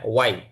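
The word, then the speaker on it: why: উপরে চারটা যা আছে এখানে কিন্তু আপনার এইচটা উচ্চারণ হবে না, হোয়াট না হোয়াট, তারপরে হোয়াই না ওয়াই, তারপরে হোয়ার না ওয়ার, তারপরে হোয়েন না ওয়েন, এইচটা উচ্চারণ আসবে না।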